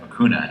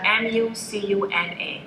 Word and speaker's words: mucuna: Ones that go for both, we have cistanche, we have mucuna, and there is a part about mucuna you want to talk about?